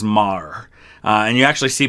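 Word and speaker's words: Meagher: it's it's spelled m-e-a-g-h-e-r which looks like meager uh but i think typically i've heard it pronounced as mar uh and you actually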